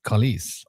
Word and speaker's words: Khalise: Um, but I thought that's uh rhymes with police. Khalise.